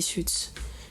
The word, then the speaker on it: Suits: Mais regardez Suits. Ok, Suits. Ouais. Ça s'écrit comment ?